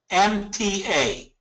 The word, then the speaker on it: Alimta: Alimata. And they together. Spell that second one for me. Sure. It's ALIMTA.